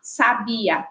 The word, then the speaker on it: sabia: frente ou a penúltima Então nesse caso sabiá é oxítona sabia paroxítona e sábio paroxítona també e não quer que